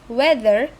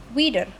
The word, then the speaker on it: weather: In the word weather the target phonomic form is weather. However the speaker produce wider indicating the two substitution processes takes place. The inter dental fricative the is replaced by the alphaar stop the and the vowel uh is replaced by the diff thong I depending on the speaker's